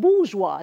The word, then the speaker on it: bourgeois: the rich are called bourgeois it's french so it is spelled bourgeoisie but it's pronounced bourgeois yeah so the rich